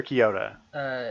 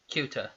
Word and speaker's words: Kyuta: Is it Kyuta or Kyoto? It's Kyuta. Kyuta. And like a cue ball.